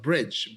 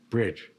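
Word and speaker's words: Brydge: That's great dining with a great And then we have a really good restaurant in Cambridge called Bridge.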